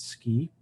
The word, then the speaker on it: SCI: The acronym is SCI and we pronounce it SCI.